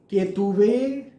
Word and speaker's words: केतुवे: कई लोग ओम केम केतवे नमः कहते हैं, वो गलत है।